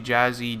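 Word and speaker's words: Jahseh: yeah I guess I'm pretty sure it's pronounced jazzy it's actually jazzy Dwayne on Froy and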